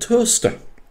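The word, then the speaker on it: Towcester: there's a place called toaster yeah pass through it many times not spelled as the same but it's certainly pronounced the same and more than more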